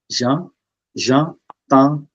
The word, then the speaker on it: j'entends: the wind so j'entends j'entends and we don't pronounce ds j'entends le vent okay so let's just go back On.